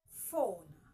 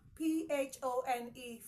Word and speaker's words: phone: of letter P in phone p h o n e phone the presence of letter P in phone is the P Works alongside it works together with the edge giving you the F the F sound